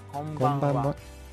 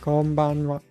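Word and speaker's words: こんばんは: The N always throws me off because it's really not there. It's not konbanwa, it's konbanwa. Konbanwa. It's like kind of there. I don't know. How do you pronounce it? Konbanwa. Konbanwa. Konbanwa. Yeah, you don't really do the N.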